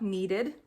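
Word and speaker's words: kneaded: heard in the book needed with a silent K and then we're also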